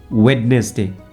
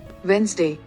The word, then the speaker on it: Wednesday: as for example let's take the word wedness day how it is pronounced properly let's check it out Wednesday Wednesday got it it says Wednesday next you have to